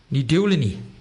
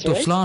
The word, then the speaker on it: Ní Dubhsláine: Ní Dubhsláine. Yes. Haha, well done. Ní Dubhsláine. So I was always pronouncing it Dubhsláine, because I was pronouncing it how I thought it's like it was spelt, But so I never